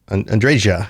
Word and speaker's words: Andreja: Andre Andre andreja she they say J they say the J Andre yeah they most people in the game pronounce the J Andrea um it does look like one of those names where the J might be an H sound but most people I